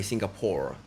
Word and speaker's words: 싱가포르: was it 싱가포 싱가포 발음이 싱가포 이렇게 해야 되 싱가포 싱가포 싱가포 coming fr I want it 패션이 멋졌어요.